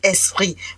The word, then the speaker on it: ESSPRI: bien savent aussi que Esprit, c'est juste le diminutif de Esopriso. Donc certains l'écrivent d'ailleurs comme esprit avec T, E-S-P-R-I-T. Non, mais le mien d'esprit s'écrit E-2-S-P-R-I, comme le diminutif de Esopriso.